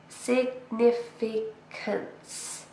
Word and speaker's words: significance: Significance. It's a long word, it's a noun. It has 4 syllables. Significance. And we stress the second syllable.